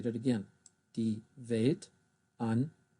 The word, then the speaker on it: Weltanschauung: Der Strudel, die Wanderlust, die Weltanschauung, I'll say that again, die Weltanschauung. There's another diphthong here, au, au.